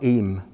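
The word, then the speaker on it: Eyam: little reference to that place pronounced eem but spelled e-y-a-m bizarly walking one moment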